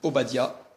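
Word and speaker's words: עובדיה: Abdias, un prophète qui en hébreu se dit Obadia et qui peut qui peut s'il s'écrit normalement au badou.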